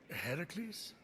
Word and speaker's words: Heracles: Phoenix after boldly besting the Gorgon that ambushed Heracles what are you doing there that thing with your voice Heracles yeah that that is how it's supposed to be pronounced seems like a lot of work but